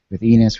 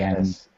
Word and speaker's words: Ennis: film as of right now, with Jewel, with Enos, with everyone else that you have currently, Ennis. Don't say his name wrong.